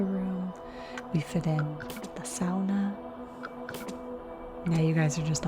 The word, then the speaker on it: sauna: my finish lesson that the proper pronunciation for the word sauna is sauna which i thought was